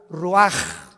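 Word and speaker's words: רוח: capítulo y exhaló Isaac el Roach así como suena se pronuncia la c en hebreo como J ruaj se le salló y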